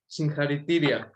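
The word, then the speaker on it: Συγχαρητήρια: Singharitiria.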